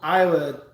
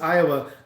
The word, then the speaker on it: Iowa: he said uh he he pronounces iowa iowa and i just i always think it's funny iowa iowa and it's like you put the emphasis on the oh yeah and so i